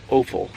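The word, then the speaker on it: offal: the pelts and the oal I've heard it pronounced awful too oal awful whichever as far as organ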